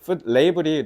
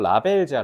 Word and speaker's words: label: 레이블이 너네 소위 그 콩글리시 발음면 라벨지야. 라벨지. 뭔가 음식 성분이나 이런 거 표시돼 있는 그 스티커 같은 거 있지? 그걸 레이블이라고 하는데 그 푸 레이블을 확인하는 걸 잊지 마라는 거잖아.